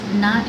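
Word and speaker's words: Gnot: of this piece is not in my backyard um and not is spelled g n o t as a reference to the Gnomes and the garden n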